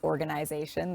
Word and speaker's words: organization: i've never met someone who pronounces organization the way that i do like with an e-y-e in the middle so uh notice that